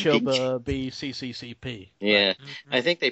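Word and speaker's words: Снова в СССР: has a Russian title, which I believe is pronounced Choba B CCCP. Choba B CCCP.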